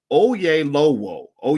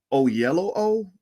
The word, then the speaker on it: Oyelowo: actor is oh ye it's spelled o y e l o w o that sounds like oh yay low o yeah low o o yellow o o yellow o o